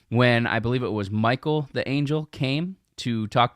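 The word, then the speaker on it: Michal: I know it's pronounced Michael it looks like Michelle and we want to be Michelle but it's pronounced Michael because she worshiped idols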